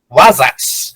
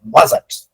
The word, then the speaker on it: Wasatch: Na cordilheira Wasatch, acredito que seja assim a pronúncia, Wasatch.